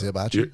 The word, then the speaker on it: hibachi: It's hibachi.